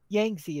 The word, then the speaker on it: Yangtze: I've heard of Tigers and Euphrates, but never heard of Yellow and Yangsty, I guess is how you pronounce that. Yangtze is usually how I pronounce it.